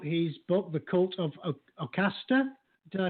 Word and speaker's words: Ocasta: Well, then we're deciding it's Ocasta. I assume it's like O and then rhymes with pasta. So, Ocasta.